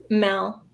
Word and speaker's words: Mel: So, Mel or Mel? Mel. Mel, thank you.